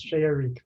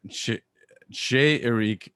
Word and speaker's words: Chez Eric: How do you say your It's French. It's the worst marketing thing I've ever sponsored. It's Chez Eric at Eric's home. Yeah. All right, Shay Eric, and he's got a